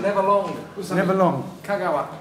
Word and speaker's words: Kagawa: Japanese pronunciation. Never long. Usami. Never long. Kagawa, not Kagawa.